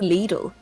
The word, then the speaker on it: Lidl: But how do you say little? Do you say lidle? Little or lidle? I don't say lidle. That's for sure. Apparently it is lidle. I just say little.